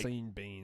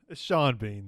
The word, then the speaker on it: Sean Bean: you think that like scene Bean that's up there dude that's got to be up there seen Bean Sean Bean though but SC it's spelled like scene beam every time I put